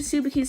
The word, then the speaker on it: Tsubaki: In the first few episodes, he kills a bunch of Tsubaki's subclasses with no remorse.